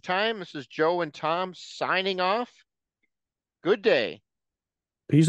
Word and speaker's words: Thom: Tuning in with Thom, T-H-O-M. Don't forget the H. The H is silent, but I'm not.